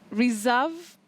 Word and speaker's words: reserve: You said it's reserve. So the S is pronounced as Z, even when you say.